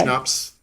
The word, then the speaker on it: Schnapps-Tyler: So Schnapps, like the drink. Tyler, like Steven Tyler. Oh, Mary Tyler. I thought Yeah. it was Giant. No, the J is silent. So Okay. Schnapps, like the drink. Tyler, Mary Tyler Moore, Steven Yes.